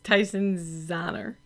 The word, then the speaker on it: Tyson Zahner: Yes, Tyson Zahner.